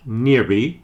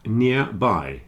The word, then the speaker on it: nearby: and by make nearby it's not nearby as some people think but nearby it's made of two